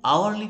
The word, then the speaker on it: hour: An hour, an heir, an honest clerk, an honorable politician, an hourly payment. We here pronounce hour, not hour, heir, not hair. Honest, not honest. That means here H is silent.